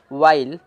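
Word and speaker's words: while: वाइल, वाइल में आप देखेंगे वाइल कि एच साइलेंट है आपका, तो ज़्यादातर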